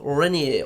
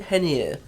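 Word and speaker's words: Reinier: in the form of renier or is it hennier because the brazilians sometimes pronounce an ah as a hitch see the run from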